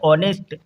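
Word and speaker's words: honest: इसको पढ़ा जाता है ऑनेस्ट, एच साइलेंट होगा।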